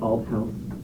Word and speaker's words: Althouse: It might be a pronunciation thing. It's it's al house in the last couple times now, but if it can't be said, I won't correct.